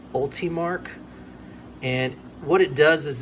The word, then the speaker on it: Ultimarc: the upgraded mod and I think it's pronounced ultimark and what it does